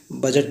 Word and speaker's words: budget: कभी कभी देखिए बजट लिखा होता है, BUDGET, बजट, इसे पढ़ते हैं बजट पढ़ते हैं। इसको हम लोग डी साइलेंट मानते हैं इसीलिए।